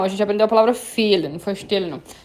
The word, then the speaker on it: fehlen: não, a gente aprendeu a palavra fehlen, não foi stillen, não. A palavra fehlen, que eu tenho o H depois do E, alongando a vogal.